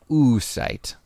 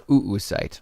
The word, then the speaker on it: oocyte: of the process is called an oocyte or oocyte again depending on who you ask so you start with